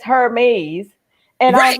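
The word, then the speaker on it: Hermès: Like, well, it says Hermes. And I was Right. like, no, it's not here. I said the H is silent.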